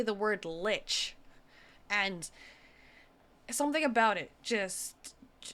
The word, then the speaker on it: lich: That man is possessed by neither a human nor a demon, but a lich. He's not possessed. That's his actual body. goodness. They actually said it correctly. They didn't pronounce it leach.